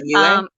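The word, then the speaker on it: Yueh: Yue, is that how you pronounce it? Yue? Yeah, Yue.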